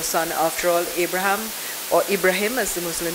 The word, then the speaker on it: Ibrahim: in the Bible or in the Islamic world Ibrahim as it is pronounced when God came to